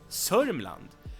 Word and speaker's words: Sörmland: Södermanland Södermanland also has an alternative pronunciation which is Sörmland and that's why Sörmland Yeah, that's the Sörmland. Mm. They skip a lot of letters. D and E get dropped.